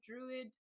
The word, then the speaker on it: druid: I really like that Druid just had 3 syllables there. Druid.